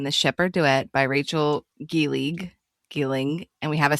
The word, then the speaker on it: Gillig: simple for you because you totally mispronounced Rachel Gillig, just to let you know, as per usual, but You said Gilling. There was no Gilling g i l l